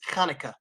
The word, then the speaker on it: Hanukkah: is going to be Kaneka pronunciation is Kaneka I know kind of a hard pronunciation for people who haven't practiced the sound but that's how it is pronounced in Hebrew so kanah is a